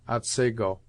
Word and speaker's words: Otsego: Thus the scene of this tale is spelt Otsego, and is properly pronounced Otsego.